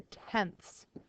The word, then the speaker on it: tenths: After the ones, we have our decimal, and then we have the tenths. Notice it has the ts sound at the end because it's a decimal.